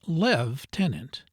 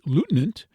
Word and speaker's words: lieutenant: The true pronunciation being lev tenant.